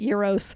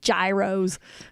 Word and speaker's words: gyros: with some Greeks, and they called it Euros. And they and they specifically trained all their weight staff and everybody like don't call them gyros. It doesn't sound Greek if you say gyros.